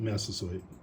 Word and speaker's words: Massasoit: Massasoit.